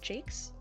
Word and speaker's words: Jacques: It's pronounced Jakes? Brian Jakes? I didn't know that, thank you. I've been saying Jacques the whole time.